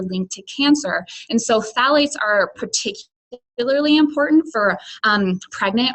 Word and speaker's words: phthalates: I know this is difficult to pronounce, but that's how you pronounce it. They're called phthalates.